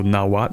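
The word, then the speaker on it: Nahuatl: also been informed that the L is silent in N so nowat maybe anyway what else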